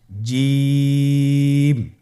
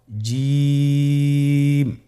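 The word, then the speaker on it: جيم: আপনারা আমার সাথে করুন জিম মাশআাল্লাহ আবার বলুন জিম আপনার চেষ্টা করুন হয়ে যাবে এর মাখরাজ হল জিহ্বার মধ্যখান তার বরাবর উপরের তালুর সঙ্গে লাগিয়ে উচ্চারিত হয়।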